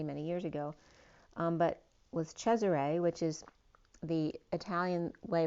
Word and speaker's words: Cesare: years ago, but was Cesare, which is the Italian way of pronouncing Caesar, but I literally had named my child Cesare, phonetically spelled like Shay Array, not realizing what it